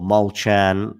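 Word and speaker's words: Molčan: straight sets today against mulcan mulkan of course or molchan as uh jg told me it should be pronounced um was a was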